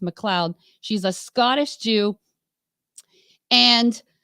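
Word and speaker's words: MacLeod: McLeod you know spelled like mccloyed but it's pronounced McLeod she's a Scottish Jew and um there's actually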